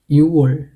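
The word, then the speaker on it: 유월: যেটা আছে পাশ্চিমের জায়গায় এই খগটা এখানে উচ্চারিত হবে না এখানে সেটা থাকবে না শুধু এটা হবে ইউর ইউর এটার উচ্চারণ হবে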